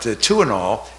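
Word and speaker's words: Tuinal: But Tuinol, and the name was a play on words. It's spelled T-U-I-N-A-L, Tuinol, T-W-O, two in all, T-U-I-N-A-L, and the drug was removed from the market.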